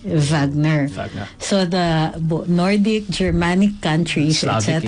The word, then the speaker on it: Wagner: pronounced with a V Wagner so the Nordic Germanic countries that's how they pronounce it you spell it with a W but you pronounce it with a V so Pino pronounced in